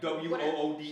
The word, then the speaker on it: water: Like WOODER. So we're talking about Like you say wood.